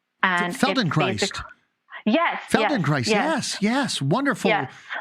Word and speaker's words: Feldenkrais: I don't even know if I can pronounce it right. It's called Feldenkrais. And Feldenkrais.